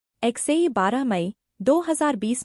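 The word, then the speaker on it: X Æ A-Xii: एक्सेई 12 मई 2020 में पैदा हुआ। उसका नाम एक्स-12 प्रोनाउंस होता है।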